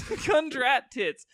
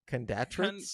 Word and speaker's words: Kundratitz: Kundratitz. Look, let me tell you how his last name is spelled. It's Kundratitz. Condatritz? Kundratitz. Is it ending with tits or trits? It's tits with a Z.